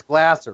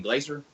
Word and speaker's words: Glasser: And it's Glasser, Russell Glasser, by the way. Yeah. I believe I said. What was I saying, Glaser? Yeah, I think it pronounces his name Glasser, if I'm not mistaken. Yeah, it's Glasser.